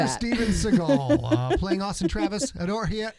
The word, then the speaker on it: Seagal: five that's the right way to say steven seagal playing austin travis adore here already made above